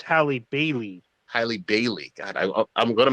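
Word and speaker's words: Halle Bailey: that i think it i think you pronounce it haley barry not halle berry but haley berry oh yeah daily bailey it's hallie bailey highly bailey god i'm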